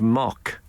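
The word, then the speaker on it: Muck: It's spelled M-U-A-C-K, but commonly it was known as the island of Mock.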